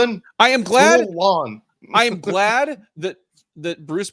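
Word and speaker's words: Tiuliulin: Tulin. Well, I am glad. Tulin.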